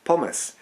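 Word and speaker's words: Pommes: course where they are known as pomus this is a german mispronunciation of the french term pomfrit which in turn is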